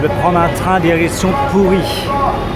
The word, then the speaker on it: Puri: Je vais prendre un train direction pourri. Non, pas pourri comme en français he ça s'écrit pas pareil. C'est pourri. P U R I.